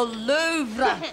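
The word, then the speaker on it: Louvre: The Lou the R is silent.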